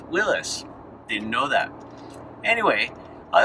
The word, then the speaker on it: Willys: and you might remember seeing a few jeep willies now i say jeep willie's but apparently according to wikipedia it's pronounced willis didn't know that anyway i also learned that